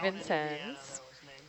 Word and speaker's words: Vincennes: Is it Vincennes? Is it, how do we pronounce it exactly? Does anyone on shore know? Our archaeologist on board saying Vincennes.